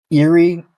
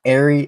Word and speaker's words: Eyrie: And so yeah, and then it became known as Odin's Eyrie, which has 3 pronunciations after I looked into it. It's Eerie, Airy, and Eyrie.